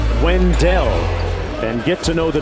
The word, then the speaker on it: Wendell: It's pronounced Wendell.